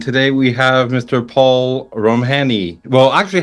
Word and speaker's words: Romhany: My father was Hungarian and uh so it's Ramhani but everyone else I